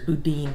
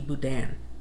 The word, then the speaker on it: Boudin: pronounce it here is Budin but I always think it should be Budan I believe it's a French name but that's how we